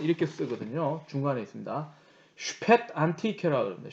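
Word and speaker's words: Spätantike: 독일 발음으로는 이렇게 쓰거든요. 중간에 있습니다. 슈펫 안티케라고 합니다. 슈펫 안티케.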